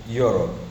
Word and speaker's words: Europe: الكلمه دي اسمها يور اسمها يوروب يعني اوروبا ما نطقتش حرف الاي الاولاني ولا حرف الاي التاني بدات باليو بدات باليو يو يو